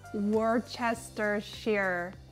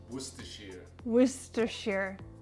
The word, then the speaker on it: Worcestershire: that out over here how do you say Worchester shear Worcestershire Worcestershire Worcestershire Worcestershire